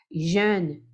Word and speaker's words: jeune: Tem que tomar cuidado para não falar amarelo, né? Jeune. Jeune. Jeune. Lembra do 2? De. É a mesma abertura. De. Jeune. Aí deixa esse N em suspenso.